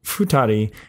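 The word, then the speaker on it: 二人: two people again here the kanji for person has an irregular pronunciation for this kanji compound it's usually read as Jin or nan however this compound futari and hitori are two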